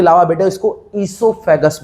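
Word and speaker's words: oesophagus: लिखना है ओसोफेगस। ओसोफेगस, समझ रहे हो इस बात को? तो हमने बोला कुछ लिखा कुछ, लिख ओ साइलेंट होता है बेटा। तो ईसोफेगस जो है हमारा, वहां से खाना जाता है फूड पाइप से।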